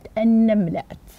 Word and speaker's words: النملات: ما نوع اللام في كلمة النملات؟ نتأمل اللام، ما نوع اللام التي بدأت بها هذه الكلمة؟ أخذنا، أحسنتم، نعم، إنها لام شمسية، وهي لام تكتب ولا تنطق، أحسنتم، بارك الله فيكم.